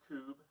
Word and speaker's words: kubb: those of you who are not familiar with kube uh it's spelled kubb and it is sort of a